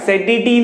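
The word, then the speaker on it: satiety: Students spelling है SATIE-TY, SATie नहीं है, इट is pronounced as SATie।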